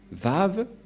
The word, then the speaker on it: Vav: Vav. Et la prononciation, c'est V as invoque. C'est-à-dire que c'est V la bonne prononciation.